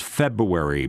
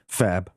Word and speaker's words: February: Feb. Fab? That's how you say it? Feb, period. It's February. February. You got to get the. I think you got to get the R in there technically.